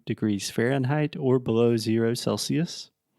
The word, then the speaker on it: Celsius: okay just one thing well I see you pronounced it correctly right now but a lot of my students I've heard say Celsius Celsius but its Celsius wah sound at the end cool and how